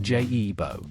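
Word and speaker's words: Giubo: Let us start with the guebua, pronounced J-E-bo.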